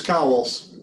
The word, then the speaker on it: Cauwels: Am I pronouncing your last names correctly? Is it Cauwels or Cauwels? It's Cauwels. Cauwels.